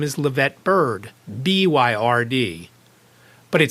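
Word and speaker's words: Byrd: to an I so it would be spelled like bird and then it would be pronounced like bird I did this episode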